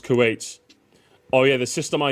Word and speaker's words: Kuwait: It's pronounced Kuwait.